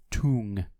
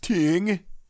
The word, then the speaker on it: Tung: that thing against um Tung it's pronounced ting defense